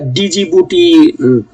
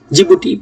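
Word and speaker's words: Djibouti: দেশ আছে মৌরিতা আফ্রিকাতে জিবুটি এটা ডিজিবুটি বানানটা লিখলেও উচ্চারণটা হচ্ছে গিয়ে আপনার জিবুটি বলিভিয়া সাউথ আমেরিকার দেশ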